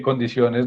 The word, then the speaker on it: condiciones: Porque condiciones no es aguda. O sea, el acento de la palabra condiciones no está en la última sílaba, sino en la penúltima.